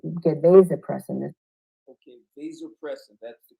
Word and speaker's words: vasopressin: in particular get get they depress it okay vasopressin that's the correct pronunciation you guys have heard me talk about